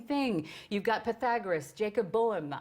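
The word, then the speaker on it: Böhme: You've got Pythagoras, Jacob Boehm. I pronounce it Boehm. It might be Boehme. I say Boehm.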